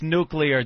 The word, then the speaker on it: nuclear: Nuclear. It's nuclear. Don't say it like George Bush.